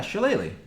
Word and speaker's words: Shillelagh: Yeah, Shillelagh.